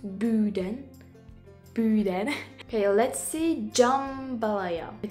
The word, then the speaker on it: boudin: Pronounced boudin.